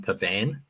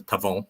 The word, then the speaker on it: Pavon: I'm glad that that Spencer pronounced Matthew pavon correctly because the commentators at the Sony Open were driving me mad by saying calling him Pavan they were calling him Pan the whole time there was an Italian golfer called um Andrea Pavan um but it's pavon which Spence correctly pronounced and then I was